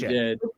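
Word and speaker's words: djent: Just gent. Gent, because it's D is silent.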